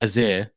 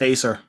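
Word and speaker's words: Æsir: the library, on that page it says the Azir, which is what people No, from Asgard it's are called, called, it's apparently. pronounced Acer.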